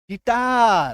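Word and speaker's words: guitar: ए आर देखो इसमें यू आई है इसका उच्चारण क्या होता है गिटार क्या होता है गिटार इसको गिटार तो नहीं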